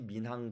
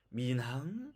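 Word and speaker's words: 闵行: 자 여기에 살고 있는데요 그 글자의 두 글자의 발음을 한번 보죠 4 미나 은 이렇게 h 발음이 비운 렌과 모아 사이에 섞여 있으면 4 미남 이렇게 나겠죠 이 발음이 맞을까요 4 많은 분들이 교과서를 보면 이렇게 써 있으니까 이게 만다고 바 생각하실 수 있겠습니다 자 그러면 틀린 예 또한 볼게요 미 남 안 됩니다 이렇게 발음 하지 않습니다 그 정확한 답은 민 항 입니다 민 항 알겠죠 자 그리고 민 남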